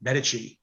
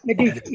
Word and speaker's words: Medici: That is the Visconti, Medici, or Medici, however you want to pronounce it. Medici, yeah.